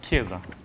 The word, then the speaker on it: chiesa: No, but it's not, it's chiesa. Okay? So in Italian, CH is a K.